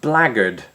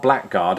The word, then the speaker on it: blackguard: Well, it sounds like that, blaggard, right? Not blackguard.